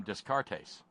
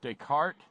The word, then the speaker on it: Descartes: my buddy did and pronounced his name disc our case and it went through me it went through me like a dose of salts and I said you mean Descartes Rene Descartes he said